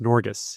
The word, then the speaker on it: Norges: They had the Norwegian Sovereign Wealth Fund, which I believe is pronounced Norges.